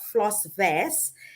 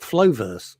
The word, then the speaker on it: Flossvest: communicating you're calling it flo verse i don't know why i know so i always have to pronounce the s very well so it is floss